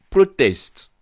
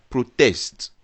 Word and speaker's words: protest: Appréciez donc les différences dues à l'accentuation dans la prononciation de ce même mot ici. Protest, et qui est un nom, et protest, qui est un verbe.